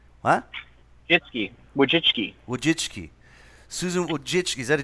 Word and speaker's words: Wojcicki: How do you pronounce her name? What? Wojcicki.